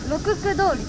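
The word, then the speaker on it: 六区: Nhật Bản Cô ấy: Cách phát âm ban đầu của tên là "Phố Rokuku", nhưng vì người dân thị trấn Edo không có sắc lưỡi, con phố này được gọi là "Phố Rokku.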